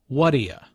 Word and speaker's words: what do you: What do you? Notice the pronunciation here. It sounds like what'ya.